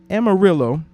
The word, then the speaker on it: Amarillo: Amarillo. 4 syllables, Amarillo.